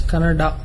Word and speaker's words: Kannada: Once I saw a video where people were fighting whether it's Kannada or Kannada. People from North India should understand that it is pronounced as Kannada.